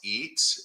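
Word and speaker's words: Etze: at mount pleasant pennsylvania my mom's maiden name is spelled e-t-z-e pronounced eats there is a street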